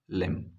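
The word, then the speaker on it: limb: गायब है लिम again B तक हम नहीं पहुंच पा रहे हैं एम पे रुक जाते हैं तो हम इसे सिर्फ पढ़ते हैं लिम आई होप आपको समझ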